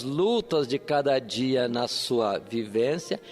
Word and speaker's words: Sua: O nome da mulher, segundo uma forma de lei pronunciar a palavra, é Sua. S-U-A.